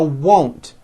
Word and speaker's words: won't: Now won't. First say whoa with the W sound at the beginning and at the end, and then you add nt. Whoa, nt. Now you put it together. Won't. I won't go.